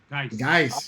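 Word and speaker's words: Guice: How does he pronounce his last name? Guys, yeah, Guys.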